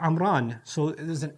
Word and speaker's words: Amram: of the word so the name imran is originally hebrew likely pronounced amram or amran so there's an m